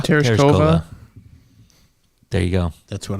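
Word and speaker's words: Tereshkova: I'd like you to pronounce her last name. Teresa. Terasova. Terasova.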